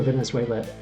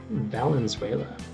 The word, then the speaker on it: Valenzuela: people who inspired fernando venezuela venezuela excuse me valenzuela um got to make sure i'm saying it right there he changed latino